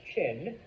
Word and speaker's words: Qin: it's with a Q, but it's pronounced Chin. All right, I know. It's the translations from Chinese script into English or into Western, okay, into Latin script. They are known as the Qin.